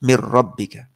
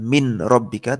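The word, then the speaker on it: مِنْ رَبِّكَ: Mirrabbika. Min ketemu rabbika. Bacanya bukan min rabbika tapi mir rabbika. Langsung masuk ke ro-nya.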